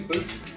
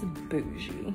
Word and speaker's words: bougie: He just said boochie, like with a CH. That's how you say it, huh? I'm pretty sure it's bougie. Oh, okay, well, there you go.